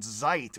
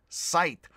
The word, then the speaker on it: Zeit: z sounds so actually instead of sign on zeit which i actually did say it's sein unt sight i believe and i